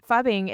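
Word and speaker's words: phubbing: So fubbing is it's ph u bbb i n g.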